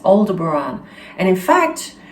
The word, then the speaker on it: Aldebaran: the name aldebaran and exactly that's how it's pronounced aldebaran and i've heard people pronounce it as older baron it's not that i've heard it from the star people themselves it's aldebaran and in fact it's funny because when i